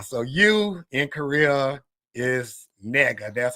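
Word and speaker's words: 니가: But then but in Korea there's a word like how we say you in Korea you pronounce it nega nega ne g a ne ga.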